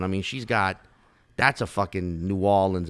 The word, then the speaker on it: New Orleans: Nolans is what drives me crazy. Nolans. That shit makes me want to fucking bash my head through a wall. But New Orleans, what about that? New Orleans is how you say it. That's how you say it. But a New Orleanian will say New Orleans. Yeah. It's like a dip, New Orleans.